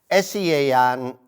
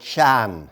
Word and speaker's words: Sean: I do television work because SEAN in Donegal, down when I was younger, we would kind of call it Shan. Yeah. And yet now anybody who spelt what we would have called Shan, it's pronounced Sean.